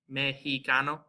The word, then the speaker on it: mexicano: The second is pronounced like the letter H, and it's reserved for certain words that are derived from them. So we have like Mexico, mexicano. So it's just like that H.